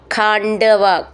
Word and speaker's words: ഖാണ്ഡവ: ഖാണ്ഡവ പ്രീണിതാഗ്നി അവിടെയും വിസർഗം ഖാണ്ഡവ ഖ എന്നുള്ള അക്ഷരം നന്നായിട്ട് ഉറപ്പിച്ചു പറയണം ഉണ്ട് നഡ് എന്നാണ് ഉണ്ട് എന്നാണ് അതിന്റെ ഉച്ചാരണം.